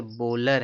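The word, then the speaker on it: bowler: इसी तरह से देखो यहां पे लोग इसको बहुत लोग बावलर पढ़ते हैं। जबकि यह क्या है? यह बॉलर है। बावलर नहीं है। ये बॉलर है।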